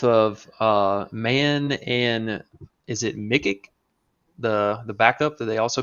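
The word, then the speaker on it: Micić: I mean, you have both of Mann and is it Mikic, the backup that they also picked up from the Thunder? Is that how you pronounce his name? Yeah, Micic, yeah, the EuroLeague Yeah.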